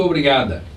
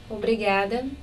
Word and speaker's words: obrigada: Obrigada. Can you tell the difference? I can. Her tongue is against the teeth. Also, on that final A, I'm hearing instead of a. Obrigada instead of obrigada.